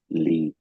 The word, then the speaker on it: li: Yes, the first one Li, it pronounces Li.